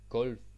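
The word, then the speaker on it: gulv: L good word g Gul Flor Gul yeah usually when you hear this word you're not really going to hear the V that much it's not like G it's not overly pronounced it's just G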